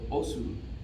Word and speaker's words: osu: just said that backwards, and that is os, or osu, is how it's spelled, O-S-U, but os is how it's pronounced, and it means patience and push.